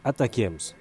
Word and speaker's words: ATACMS: qu'est-ce que ça change en anglais on prononce attacks une contraction de attaqules